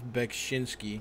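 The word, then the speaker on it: Beksiński: A couple fucking crybabies in the fucking chat are saying it's pronounced Zdzislaw Beksinski.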